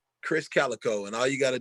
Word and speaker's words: Krizz Kaliko: will pop up k-r-i-z-z k-a-l-i-k-o it's pronounced chris calico chris calico and all you got